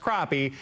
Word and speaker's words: crappie: It's pronounced crappie.